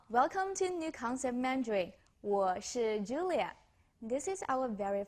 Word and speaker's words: 我是: 我是 sounds like wash. Just pronounce the SH part harder. You can put your fingers here to feel the vibration.